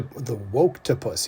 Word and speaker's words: Woketopus: And he also said it formed the inspiration for his second book, The Woke The Woketopus. Yeah, okay, that's the right way to pronounce it.